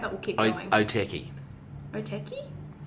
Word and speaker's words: Otaki: Otaki? You said Otakai. You pronounce it Otaki.